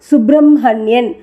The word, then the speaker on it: சுப்பிரமணியன்: இங்கே தப்பாகிவிடும் இரண்டாவது மாறுதல் சமஸ்கிருதத்தில் சுப்பிரமணியன் சுப்பிரமணியன் பிரம்மா வகுனி என்று எழுதினாலும் படிக்கும்போது சுப்ரம்மன்யன் பிரம்மர் வகுனி என்றே உச்சரிக்க வேண்டி இருக்கிறது சரி இஹ் சேர்ந்த கூட்டெழுத்துக்கள்